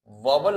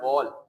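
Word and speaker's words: vowel: देखिए वेदर आए, इफ आए, मतलब एक ही है, वेदर इट इज वॉवल। आप लोग लफ्ज पढ़ते हैं, ये वॉवल लफ्ज नहीं होता, in modern pronunciation it is called वॉल, whether it इज वॉल और नॉट।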